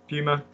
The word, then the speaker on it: Puma: two brands um get the word get the pronunciation right for two good brother we have um Puma Puma and no that's Adidas isn't it yeah Adidas